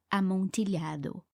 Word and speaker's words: amontillado: da montilha o tanto a pronúncia certa da palavra deve ser amontilhado mais para poupar vocês do meu sotaque Impecável em espanhol eu vou ler pronunciando amontillado mesmo para compensar vocês terão